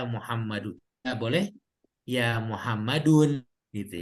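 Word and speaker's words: يا محمدُ: tidak pakai harokat apa-apa, ada ya dan Muhammad, kita bacanya adalah ya Muhammadun. Nggak boleh ya Muhammadun gitu ya. Itu cara baca yang salah kalau ya Muhammadun.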